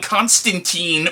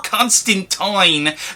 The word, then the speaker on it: Constantine: Now, these comics feature the character of John Constantine, or Constantine, depending on how you want to pronounce it, who is sort of a paranormal investigator / demon hunter / modern day wizard.